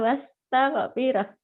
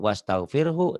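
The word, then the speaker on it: واستغفره: Ustadz kadang-kadang, imam masjid kadang-kadang, dia bacanya fasabbih bihamdi rabbika wastaghfir. Salah ya. Hu-nya nggak dibaca nih. Salah. Ini kan fasabbih bertasbihlah dengan menyebut nama Tuhanmu kepada Allah. Wastaghfirhu dan minta ampunlah.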